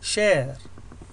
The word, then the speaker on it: share: معظم الكلمات التي تنتهي ب a ثم حرف ساكن ثم e لا نلفظ ال e في النهاية ونرفض حرف ال a وعلى أنه a يعني كما هو صوت الحرف a مع لفظ الحرف الذي يلي أي share. لاحظوا ال r لم ألف ال e لم ألفظها share. لا أقول شاري أو شيري، no it's share.